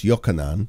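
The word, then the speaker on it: יוחנן: John, I know, was Yochanan. That's how John would have been pronounced.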